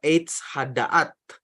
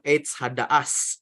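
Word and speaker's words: עץ הדעת: Kalau dalam bahasa Ibrani disebut Eitz Hadaat. Itu apa namanya, pelafalan Separdik, tapi kalau pelafalan Askenaz itu Eitz Hadaas, seperti itu, Bapak Ibu sekalian.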